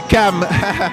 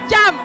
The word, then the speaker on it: Cham: C'est bien prononcé, c'est Cam. Cam. Voilà, c'est c'est comme si c'était un K. Ça s'écrit ch mais ça se prononce cam.